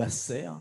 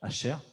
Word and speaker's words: Asher: La tribu qui est née, il est né le 2 de Shevat, exactement, c'est Asher, ou Asser, oui, ça s'écrit Aleph, Sher et Resh, Asher.